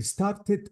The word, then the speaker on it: started: deleted the e sound but notice that in started I didn't I didn't delete the